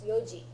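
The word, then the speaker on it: 四時: So Well, it'd go back but to- that doesn't help with shi versus yon because it's yoji.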